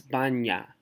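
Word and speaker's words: баня: of a word like Banja it's different because the N in that is not bad nah it's Banja yeah it's like the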